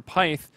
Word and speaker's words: pyth: that is Pit or Pith or Pyth. I believe Pit is actually the correct pronunciation, and obviously Peter coming over from CLG.